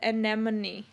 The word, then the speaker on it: anemone: Well, there's like letters in there that you aren't supposed to say that are in there, which is like one of those silent letters.